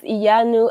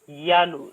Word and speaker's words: Iyanu: It's pronounced Iyanu. Yanu. So Oh, you there's you no you got I. the Iyanu what? So it's Yanu. Yes.